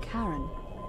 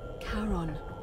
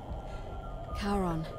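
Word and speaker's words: Charon: it's just as you described it only your pronunciation is a little off the name you heard wasn't Karen it was c-h-a-r-o-a as in Caron the ferryman of the Dead karon who in exchange for the right coin helps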